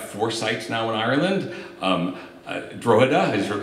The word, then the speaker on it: Drogheda: I think as we have four sites now in Ireland, Drogheda, I just learned the G is silent, Drogheda, I learned that this morning, and Dunleary, and two here in Limerick.